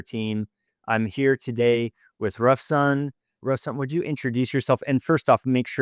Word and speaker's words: Rafsan: I'm here today with Ruffson. Ruffson, would you introduce yourself and first off make sure I pronounce your name properly.